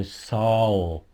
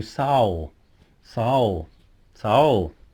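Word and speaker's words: sağol: if you like so Soul okay it's like owl with an S at the beginning so soul soul soul so she pushed the coffee down on the table for you and you say soul and she'll say be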